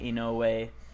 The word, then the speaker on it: Inoue: I He did isn't- mispronounce his name. I'm not a fucking weeb. It's Takahike Inoue.